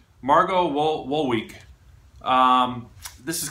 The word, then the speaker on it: Wolowiec: Moving along, I have to use my cheat sheet because I can't quite pronounce this woman's name. It's Margo Wolowiec. So Wolowiec. Margo Wolowiec.